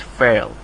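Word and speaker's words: فعل: fail so that's actually it's pronounced like this fail okay so Isam fail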